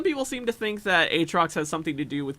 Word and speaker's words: Aatrox: How do you That's pronounce not their Aatrox? fault. That's our fault. It's AY as in Bay and Trox.